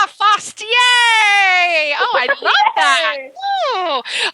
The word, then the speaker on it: Fastje: My last name is pronounced Fastje. The J is like a Y. It's like you're running fast and then you're saying yay. Fastje.